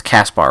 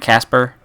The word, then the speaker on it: Caspar: It's Caspar, right? Not Casper? Not like the ghost, not like the friendly little ghost, you know, fucking... No, because Casper the ghost probably spelled with an E.